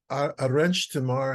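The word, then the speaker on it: Arenys de Mar: Salvador esprillo about his home Village um it's a wrench tomorrow is how it's pronounced it's a it's a coastal town just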